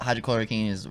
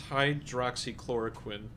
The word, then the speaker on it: hydroxychloroquine: It wasn't about hydrochloroquine or whatever, however you say it. I'm sorry if I butchered it, but I think it's hydroxychloroquine, and it's because I